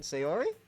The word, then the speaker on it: Sayori: Sayori?